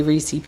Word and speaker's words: Reese's: Funny how I say Reesei Pieces. How do you say it? Reese's pieces. Reesei pieces. What do you say? Reese's pieces. I guess the right way.